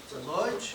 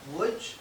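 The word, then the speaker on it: Łódź: forgive me I grew up with the name LJ not wood it's how the Jewish people in Yiddish would pronounce this name so if you hear L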